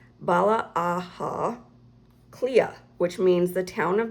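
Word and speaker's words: Baile Átha Cliath: But it says, "But in Irish Dublin is by pronounced Bala Aha Cliath. Cle-a. Bala Aha Cle-a, which means the town of the fort of the hurdles."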